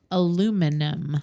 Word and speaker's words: aluminum: Okay, same words but different pronunciation. cool. All right. I'm there. Aluminum.